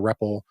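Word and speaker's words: REPL: and so forth thepp which is what we're sort of pronouncing as a repple is the read evaluate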